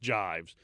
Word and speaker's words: Gyves: it, Skevington's Gyves, and I'm told that it's pronounced Gyves, Gyves, but I'm told it's pronounced Gyves, to the Scavenger's daughter.